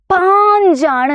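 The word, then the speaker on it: पाँच: അല്ലേ നോക്കിക്കേ പാഞ്ച് എന്നാണ് ആ എന്ന് പറയുന്ന അക്ഷരത്തിന്റെ കൂടെ നമ്മൾ ആം എന്നുള്ള ആ ഒരു ചിഹ്നം ഇട്ടു കൊടുക്കുകയാണ് അല്ലേ ആം എന്നുള്ള ചിഹ്നമാണ് എന്ത് ഇതല്ലേ ഒരു വരയിട്ടു ഒരു ചന്ദ്രക്കല ഇട്ടു ഒരു കുത്തിട്ടു അപ്പൊ എന്ത് നമ്മൾ വായിക്കും ആം എന്നുള്ള സൗണ്ട് ആണ് ഇതെന്താണ് പാഞ്ച് എന്നാണ് അല്ലെ എന്താ വായിക്കുന്നത് പാഞ്ച് എന്നാണ് ഓക്കേ സെറ്റ് അടുത്തത് ആറിന് സിക്സിന്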